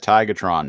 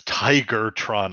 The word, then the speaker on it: Tigatron: We need to let Tigatron know that we're leaving." Yeah, Optimus is Tigertron again, and I'm like, dude, it's Tigatron. Even the fucking closed caption says Tigatron.